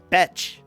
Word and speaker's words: Beth: And then the name Beth is pronounced Betch.